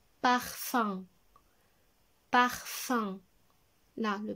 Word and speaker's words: parfum: Et la dernière écriture du son 1, c'est avec UM, comme dans le mot un parfum. Parfum. Là, le parfum.